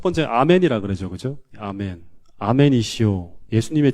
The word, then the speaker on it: 아멘: 아멘 하는 건 이게 원래 제가 원문을 읽는다 그러면 아만이라고 읽을 것 같아요. 아만.